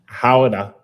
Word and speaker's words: Gouda: So it's a city in the Netherlands, right? And they pronounce it Gouda.